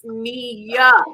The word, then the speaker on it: Nia: It's not Nia, it's Nia.